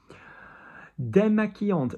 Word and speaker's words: démaquillante: Démaquillante, very common word in beauty.